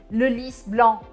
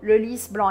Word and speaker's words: Le lys blanc: Aqui é o nome da flor e por isso o S precisa ser pronunciado. Le lys blanc. Aí tem gente que começa a falar francês e fala assim, ah, não, essa nunca é pronunciado. E fala le lys blanc. Só que se você falar assim, vai parecer que é a cama branca.